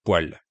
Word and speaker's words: poêle: Le mot poêle s'écrit P-O-E accent circonflexe L-E, mais on le prononce poêle.